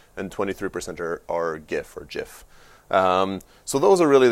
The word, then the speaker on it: GIF: came from but like gif is supposed to be pronounced jif png is supposed to